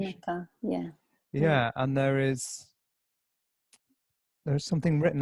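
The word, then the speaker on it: Unci Maka: Is that the correct pronunciation? Unchi Maka, yeah.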